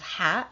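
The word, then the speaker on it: ح: The pronunciation of Ha is Ha. It's similar to the sound Ha that you find in English, but it has more involvement from your throat.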